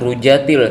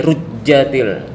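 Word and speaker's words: رُجَّتِ: nah ini harus ditekan sedikit karena ada tasdid jangan rujatil tapi rujjatil rujjatil arduja nah ini rujjatil ini adalah izhar qamariah sama seperti ini juga idza rujjatil ardu rja nah ini rja harus ditekan juga ya.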